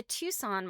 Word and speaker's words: Tucson: By the way, Tucson has a C in it. I always spell if I have to write something about Arizona and I type Tucson, I'm like, I know that is not how Tucson is spelled. There's some silent letter in there.